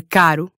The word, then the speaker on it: caro: When a single R shows up in between two vowels. As in morango, or caro.